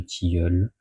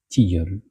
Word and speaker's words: tilleul: à un couvert de tilleul mot que Madame vaet quoique nî de Conflant on prononce obstinément tigul malgré les observations grammaticales de ces hautes